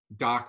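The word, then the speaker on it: DACH: we launch and but you have to say it properly it's doctor well I'll tell you why I can't say that currently so say it like a German it's doc uh trust me you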